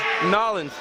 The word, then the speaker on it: New Orleans: That's pronounced Nolens, Louisiana.